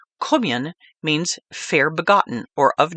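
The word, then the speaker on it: Caoimhín: The Gaelic pronunciation of St. Kevin's name, Cummion, means fair begotten or of noble birth.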